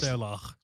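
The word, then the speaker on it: sluagh: Selach. Selach. Yeah. Ah. Yeah, that proper pronunciation.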